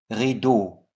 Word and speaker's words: rideau: Rideau, silent X.